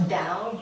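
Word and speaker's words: Tao: the founding father of dao um sometimes it's pronounced dao but it's spelled t-a-o um i find that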